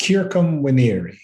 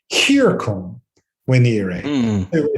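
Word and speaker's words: circumvenire: And so as the commentaries had already figured out, it has to be pronounced circum venire. Instead of a circum, he's trying to make it sound like the Greek letter chi.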